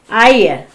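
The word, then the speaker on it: heir: Hire.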